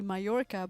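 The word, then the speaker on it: Mallorca: that up we um the island mayorca is also double L and it's like supposed to be mayorca but we say as a short for Mal we going to go to Mal okay so we just completely butcher it okay okay yeah poloo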